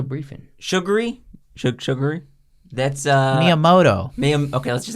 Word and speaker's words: Miyamoto: I'm gonna have to have definitely not you pronounce the guy's name this guy Shigeru Miyamoto sugar okay I could have